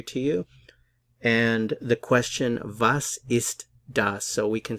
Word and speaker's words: was: the verb to be vases Das means literally what is that notice the pronunciation of the W here it's like a English V sound vas vas vas is so this question